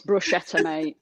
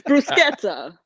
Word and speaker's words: bruschetta: get up it's like it's bruschetta just order myself a shelter it's brusqueta it's the consistency for